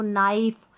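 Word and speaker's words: knife: के एन को हम न की ध्वनि देते हैं। मतलब न पढ़ते हैं क्योंकि के साइलेंट रहता है।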